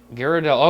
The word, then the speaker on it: Ghirardelli: I'm not exactly sure how you pronounce it. Ghirardelli.